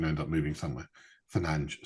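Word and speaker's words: Fernandes: So, he'll probably end up there because Fernandez is probably going to end up moving somewhere. Fernanch, sorry. Need to get need to say his name properly.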